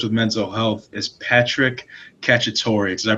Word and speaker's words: Cacciatore: Here to share the inspiration behind that podcast and how he copes with mental health is Patrick Cacciatore. Did I pronounce that right?